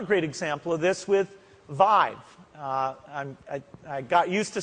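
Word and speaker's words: Viiv: example of this with Vive. I got used to saying it right. It rhymes with 5 and live, so don't make a mistake if anyone from Intel is around. It's Vive.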